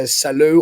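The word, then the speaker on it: Salou: We're going to Saloo or Salo, depending how if you want to pronounce it English or Spanish way.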